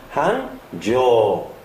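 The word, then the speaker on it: 繁盛: 단어입니다 그래서 한조인 성자 원래의 발음 세이이나 창자를 대신해서 성자를 썼기 때문에 발음은 한죠 되겠습니다 마찬가지로 한징에 바로 올해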